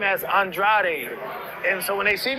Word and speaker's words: Andrade: this fight you know last fight I said pronounce it Andre cuz I'm going against de Nickerson I was like man just say Andre now I think Benavides is Andrade is the way to pronounce this fight we we'll wrap